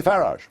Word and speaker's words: Farage: how to pronounce it I say farage farage yeah as I as I would say garage very well but thank